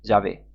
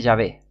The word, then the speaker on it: Yahvé: Algunos afirman dogmáticamente que el tetragramaton hebreo Yod-Heh-Vav-Heh, se pronunciaba originalmente Yahvé. Otros dicen que debería traducirse como Yahvé, Yao o Yaho.